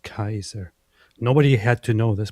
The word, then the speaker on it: Caesar: to point out that the accurate pronunciation back then for the Romans was Kaiser which is very close to the German word Kaiser which is directly adopted. So Caesar was actually pronounced Kaiser.